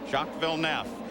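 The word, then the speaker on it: Villeneuve: looking for a championship but look alongside him jackville nef by the way the pronunciation has changed at the request of Jack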